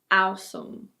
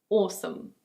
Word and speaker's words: awesome: It's not "ow-sem" or "ow-sohm". In British English it's: awesome.